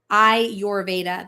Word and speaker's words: Ayurveda: every day ayurveda helps you recognize that interconnectivity I your Veda that's they're telling me how to pronounce it now which I love because I'm like how do I pronounce it I your Veda ayurveda ayurveda ayurveda ayurveda ayurveda ayurveda ayurveda got it